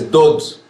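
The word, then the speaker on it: דוד: Y recordemos algo muy interesante, y es David, en hebreo se escribe Dalet Vav Dalet, que también se dice Dod, y Dod quiere decir amado.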